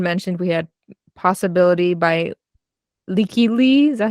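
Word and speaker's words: Lykke Li: So this one, Juan mentioned we had Possibility by Leaky Lee. Is that how you say it? Miss Leaky Lee, yes.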